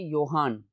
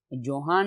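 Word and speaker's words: Johan: Students इस word की pronunciation है योहान, जोहान नहीं है, जैसे जॉन के लिए JHON है।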